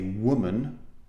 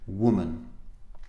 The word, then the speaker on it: woman: singular is the second the second syllable is unstressed we don't say were man okay even though we say I'm a man when we say woman the second part is unstressed the stress is on the first syllable world woman now the plural women